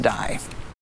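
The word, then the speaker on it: Dai: His first name is actually Stan, and his last name is spelled D-A-I, which I'm only assuming is pronounced Dye.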